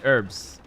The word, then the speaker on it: herbs: The H is silent and herbs. Okay, herbs.